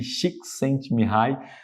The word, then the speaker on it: Csikszentmihalyi: Esse nome complicado, deixei até como se pronuncia aqui, Csikszentmihalyi.